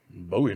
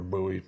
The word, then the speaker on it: bowie: almost looks like a bowie knife or buoy i don't like that pronunciation but hey a lot of people use it um kind of a